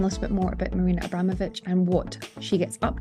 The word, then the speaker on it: Marina Abramović: say her name that way, how do you pronounce it? I say Marina Abramović. It's exactly the same, Marina Abramović.